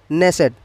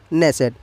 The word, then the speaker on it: Knesset: तो इजराइल की संसद है नेसेट। आप स्पेलिंग देखिए, KNESSET, नेसेट।